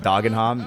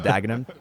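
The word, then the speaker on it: Dagenham: When I said Doggenham instead of Daggenham.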